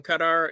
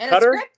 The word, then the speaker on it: Qatar: Oh, just working on the play gig with the lady from Qatar, and we're trying to get that thing going.